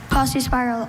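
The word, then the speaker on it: paucispiral: Posse spiral. Are there any alternate pronunciations? Just Posse spiral.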